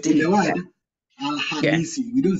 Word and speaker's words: Alhamisi: Alamasi. Alamasi. Alhamisi. Alamasi. No. Alhamisi. Misi, not masi.